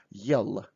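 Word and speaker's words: ел: Try to pronounce hard L, yell, yell.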